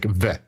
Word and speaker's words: VWAP: So I keep told that, hey Tom, you don't need to say we, you just say V, like VWAP.